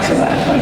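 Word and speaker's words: Sevak: Sabat. Or is it Savach? Savach, okay.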